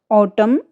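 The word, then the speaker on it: autumn: इसका रूल्स देखिए आप, शब्द के अंत में एम के तुरंत बाद एन आता है तो एन जो है वो साइलेंट हो जाता है। स्पेलिंग से देखिए, ऑटम, कॉलम, हिम, इन सारी ही स्पेलिंग्स में आप देखिए एन जो लेटर्स है वो यूज तो किया गया है, बट प्रोनाउंस करते समय उसको साइलेंट कर दिया गया है, उसको मूक बना दिया गया है।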